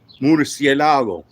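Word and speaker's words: Murciélago: Try to say it like in French, but it's actually Murcielago.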